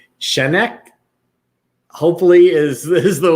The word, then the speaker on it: Schenck: a minute uh darren i want to say chennai hopefully is this is the way that you pronounce it um darren i would say i'm gonna say shank shank there we go okay awesome there it